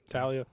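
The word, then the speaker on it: Taulia: They recruited – is it Talia? Is that how you pronounce his name? Yeah, Talia. They really recruited him, and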